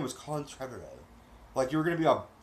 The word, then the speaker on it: Trevorrow: I keep reminding myself it rhymes with tomorrow, but it doesn't flow. So hard. I thought you were British this whole time, man. I thought your name was Colin Trevorrow.